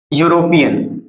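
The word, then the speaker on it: European: लिखा है अपन ने यूरोपियन की शुरुआत किससे हो रही है ई से हो रही है जो क्या है एक वल है लेकिन जब जब साउंड कर रहे हैं अपन तो साउंड यहां पर भी किसका आ रहा है यू का आ रहा है इसलिए इस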